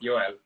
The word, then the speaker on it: Joel: Is it Joel? It's Joel. Yes, that's what I was thinking because it's how you pronounce this letter, and I always said it in the wrong way.